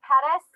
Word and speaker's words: Pettis: I am Pettis. It rhymes with lettuce.